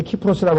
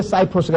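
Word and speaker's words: Cyprus: 그래서 우리가 뭐, 터키하고 그리스하고 분쟁할 때도 키프로스 분쟁, 그런데 키프로스라고 할 때 C자가 라틴어로 발음하면 키고 영어로 발음하면 그게 사이프러스가 됩니다.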